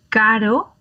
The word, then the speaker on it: caro: Caro, carro.